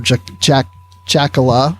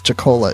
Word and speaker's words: Jacola: with Brandy Jacola and or Jackola. She doesn't care which way it's pronounced, but I'm told it's Jacola is the correct pronunciation, even though I can't talk right now.